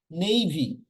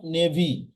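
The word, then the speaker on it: navy: নেইভি, নট নেভি।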